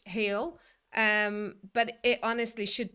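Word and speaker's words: hel: And it said it's spelled h e l. And afterwards thought, yeah, that's probably because related to the smell, but it actually means whole in Swedish, heel.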